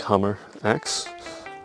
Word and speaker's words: Hammerex: to know more about so hammer x as i would pronounce it it's like hammer axe or extreme i don't know why you sort of want to say it but hammer axe so basically this is